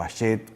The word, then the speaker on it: Hachette: Fue tal la significación que esto se hizo en la vieja editorial Hachette, o Hachette, como algunos la pronuncian, que era una editorial importante.